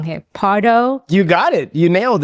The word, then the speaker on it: Pardo: Okay, let me correct me if I say your last name wrong here. Partardo, you got it.